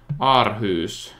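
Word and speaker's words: Aarhus: city right here Aus arus know how to pronounce it arus that's how you would say it like Danny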